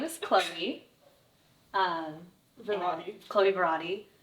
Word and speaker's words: Klaui: okay and it's so it's spelled k l a UI but pronounced chlo chlo but a lot of people will be like like Maui clowy clowy like Maui it's